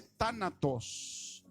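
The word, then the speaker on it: θάνατος: cómo se dice separación en griego se dice tánatos y sabes cómo se traduce muerte muerte esta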